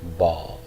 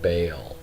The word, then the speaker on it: Baal: is the name of the Canaanite deity Baal Baal Baal or some people pronounce his name bail okay we have the